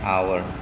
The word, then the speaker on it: hour: that for example an hour we don't say how and honor we don't say horn in these words that you see here all the HS are silent an a an honest